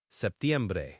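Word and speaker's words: septiembre: Traditionally, it's often pronounced with a very soft P or sometimes it's almost dropped in casual speech, but the most standard pronunciation includes it.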